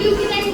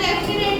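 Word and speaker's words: lieutenant: पहले सबसे पहले लेफ्टिनेंट लेफ्टिनेंट को लूटिनेंट बोलते हैं। क्या बोलते हैं? इंग्लिश में प्रोनाउंस हम लूटिनेंट करते हैं। लेफ्टिनेंट भी बोलते हैं।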